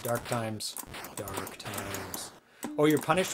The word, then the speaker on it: T:ME: time games is that is that how you pronounce it time time salvo because it's got a t and then two dots then m e and t and i